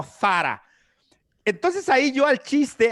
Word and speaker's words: Zara: estaba súper mal pronunciado porque la marca es española y se pronuncia para si nos fuésemos a tratar de pronunciarlo bien con la zeta española yo ahí estoy tratando